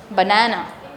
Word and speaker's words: banana: Banana. The first and the third. The second one is actually longer.